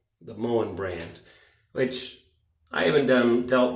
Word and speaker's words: Moen: the water line, which then clogs up this Morin. Is that how you say it? Let me find the tap here. Yeah, Moen, the Moen brand, which I haven't dealt much with.